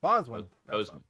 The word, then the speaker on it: Boseman: Boseman. Boseman. Thank you. I see it and I just couldn't pronounce it.